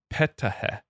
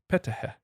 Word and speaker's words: Ptah: Ptah. Ptah. Ptah. So the P is not silent when it's in front of a T?